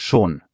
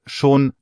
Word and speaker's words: schon: Aussprache nochmal praktisch. 2 Minimalpaare, schön und schon. Schön, langes Ö, schon, kurz und O.